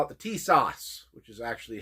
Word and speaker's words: Tisas: the tsis or some people call it the t- sauce which is actually how it's supposed to be pronounced sounds like uh a uh you know